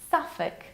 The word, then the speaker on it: Suffolk: So it's Suffolk. Suffolk sounds a little bit like suffocate. So let's imagine a sentence. I suffocate in Suffolk.